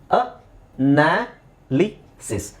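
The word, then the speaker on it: analysis: ಇದೆ different sounds ಇದೆ ಇಲ್ನೋಡಿ ಅ ನಾಲಿಸಿಸ್ ಅನಾಲಿಸಿಸ್ ಬಟ್ ಇಲ್ಲಿ ಅನ್ ಲಿಸ್ಟ್ ಅನಲಿಸ್ಟ್ ಇಲ್ಲಿ ದೀರ್ಘ ಇಲ್ಲ ಆ ಅನಲಿಸ್ಟ್ ಅನಲಿಸ್ಟ್ ಇಲ್ಲಿ ಅಕ್ಷರಗಳು ಸೇಮ್ ಕಾಣಿಸ್ತಾ ಇದೆ ಆದರೆ ಉಚ್ಚಾರಣೆ ಬೇರೆ ಇದೆ ಇಲ್ಲಿ ಅನಾಲಿಸಿಸ್ ಇಲ್ಲಿ ಇಲ್ಲಿ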